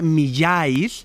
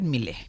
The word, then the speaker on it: Millais: Se escribe Millais, el nombre del autor de Ofelia, de este cuadro. Lo podemos decir Millais, bueno, más o menos. Vale. Nosotros vamos a llamarle John Everett Millais.